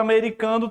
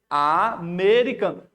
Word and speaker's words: americano: Porque não é o an que está formando igual a tampa. Aqui é americano. Inclusive, você está lendo o A e está pronunciando o M.